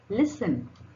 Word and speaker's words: listen: Now, letter T can also be little sneaky and also be silent, like it.